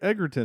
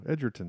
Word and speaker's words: Egerton: Taron Egerton is in this too. Edgerton, excuse me.